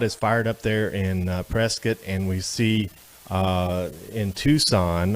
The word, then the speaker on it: Prescott: All right, so we're back here in Prescott. So let's talk about that pronunciation just before we go briefly. I mean, you look at it, it looks like Prescott.